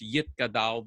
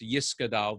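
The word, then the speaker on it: Yitgadal: the kaddish so in in uh sephardic pronunciation it's yit kadal the yitkadash and so in ashkenazi pronunciation it's yiska dal the eskadash let's see where we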